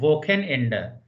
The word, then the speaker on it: Wochenende: So after EICH is sir, and after AOUCH is kha. So here it should be pronounced Techniker, and here it should be pronounced Wochenende. Wochen, CH is kha here, and after ECH is sir.